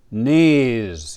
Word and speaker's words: knees: Today we learned your knees. Yes, we don't pronounce the K.